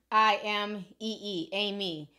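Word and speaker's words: Aimee: It's A, well, how she spell it? It's like A-M-I-E. Let me show y'all. Yeah, A-I-M-E-E, Amy.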